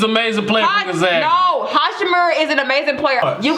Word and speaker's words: Hachimura: How you say his name is Hachimura, for one. And for two, Hachimura is an amazing player. He went to Gonzaga. No. Ain't no such thing as amazing player for Gonzaga. No, Hachimura is an amazing player.